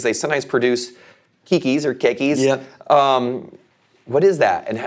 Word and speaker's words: keikis: So if I say the word, and hopefully I'm saying this right, the kikis? Keikis, yeah.